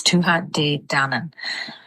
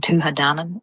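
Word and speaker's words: Tuatha Dé Danann: So I've seen a couple people kind of saying tua dan and leaving out the day but um it would be tua dan. So dan kind of goes together quite quickly.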